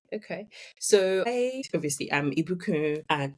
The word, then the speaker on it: Ibukun: So I obviously am Ibukun and Ibukun. Pronunciation is important.